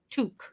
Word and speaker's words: toque: speak Canadian to see I always thought it was to I've been saying that wrong all these years what toque to saying to I'll